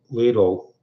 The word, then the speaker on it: Lidl: Back in 2018, Lidl, some people pronounce it Lidl, other people pronounce it Lidl.